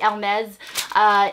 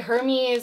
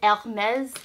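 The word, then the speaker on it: Hermès: It is actually Hermes in French. I know a lot of people say Hermes or Hermes. It is Hermes.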